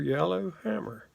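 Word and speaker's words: Yellar Hammer: And that's your Yallar Hammer. And that is spelled Y-E-L-L-A-R, yellow, the way we say it down here in the South.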